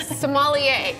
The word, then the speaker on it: sommelier: I'm very blessed to have this opportunity to be a sommelier.